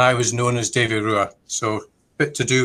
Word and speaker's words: RUA: So the word RUA, R-U-A, is pronounced RUA, but is also a Scottish Gaelic word spelt R-U-A-D-H, but phonetically sounds the same.